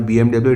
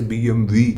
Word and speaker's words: BMW: so easy to pronounce the BMW is not BMW it is BMV any which way I